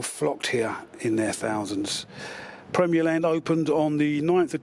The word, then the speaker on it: Premier Land: Here on this slight curve in the road once stood Premier Land, pronounced locally as Premier Land and abbreviated locally to the Land.